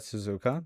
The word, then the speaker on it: Suzuka: Suzuka does indeed rhyme with bazooka.